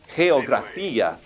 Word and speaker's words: geografía: Notice that the G is in front of an E, so therefore we would say it like breathe H. So this word would be geografía.